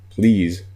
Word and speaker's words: please: American accents with me please phonetically when you hear it rhymes with keys but keys is spelled ke-eys please spelled PL EA se doesn't seem to rhyme on paper but it actually does rhyme we're focusing on use